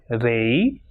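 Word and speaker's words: rey: And when it comes at the end of a word or when it comes alone, it will pronounce as e, like rei, lei, guay, delante y detrás.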